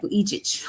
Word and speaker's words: Vujicic: I think I pronounced that right, Vujicic, like that.